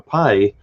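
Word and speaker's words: π: And if you ask somebody what's the number pi, if they knew what the letter was, of course in Greek it's pronounced p, not pi, but whole different story there.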